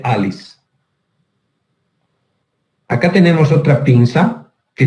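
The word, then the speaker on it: Allis: Se escribe con 2 L's, pero se dice Alice.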